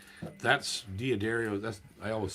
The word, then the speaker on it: D'Addario: bronze so that tells you something right that's diaderio that's i always say i i always pronounce that word both ways i have my whole life but well everybody used to say daddario yeah but that's what it's supposed to be